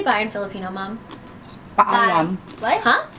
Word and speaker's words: Paalam: Paalam. What? Huh? Paalam.